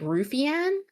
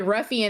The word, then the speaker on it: Ruffian: You know, I never could figure out how to pronounce the name of that card. I was like, Rufianne, what is why is his name Rufianne? What does that mean? And somebody was like, Ruffian, and I was like, oh, well, Phil D.